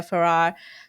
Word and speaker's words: Feerrar: And she was like, it's like Ferrari, just without the last syllable.